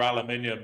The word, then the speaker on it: aluminium: I want to know about like what how do you say aluminum? Aluminium. It has an extra eye in it.